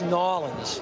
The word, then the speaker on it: New Orleans: and for everybody else who's watching it it's nins nin nin exactly they feasted on Cajun food